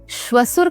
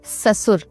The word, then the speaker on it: ससुर: उसी प्रकार लोग शसुर का प्रयोग करते हैं। शसुर का उच्चारण करते हैं। जबकि सही उच्चारण होना चाहिए ससुर।